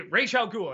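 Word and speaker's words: Ra's al Ghul: you know you got the Scarecrow and Ray Raya goul that's how you say his name uh and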